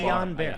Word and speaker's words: Guillain-Barré: I will also say, however, to Charlie, Guillain-Barré syndrome, which I'm probably pronouncing Guillain-Barré. Oh, fucking finally found it. wrong. It's a I side effect. of- always mispronounce it. Yeah, me too. Guillain-Barré. Guillain-Barré.